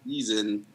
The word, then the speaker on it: CZN: I'm the C in season because it's spelled CZN.